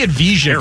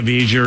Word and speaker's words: Avdija: Well, they traded for Poole, and who's the Avdija guy? How do you pronounce that guy's name? Demi Avdija or something.